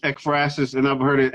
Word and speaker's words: Ekphrasis: if you want to get how do you pronounce it expressis that's how you pronounce this yeah it's expresses and i've heard it exorcist too so both ways the express is cd